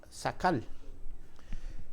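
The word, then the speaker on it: שָׂכַל: se traduce como wisdom la palabra se pronuncia sacal eh en inglés tien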